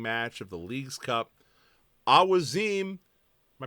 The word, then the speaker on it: Awaziem: So to my ear, it feels more correct when I've heard him say it to just say Awaziem. So the Post Cincy is going to officially declare his pronunciation to be Awaziem. That's how we're going to say it. That's how I have now said it in my mind.